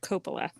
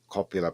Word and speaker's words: Coppola: so by the way it's Francis Ford Coppola that's how I pronounced that yeah well everybody was calling copula before weren't they in any kind of